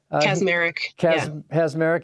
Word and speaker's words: Kacsmaryk: Kacsmaryk? Kacsmaryk.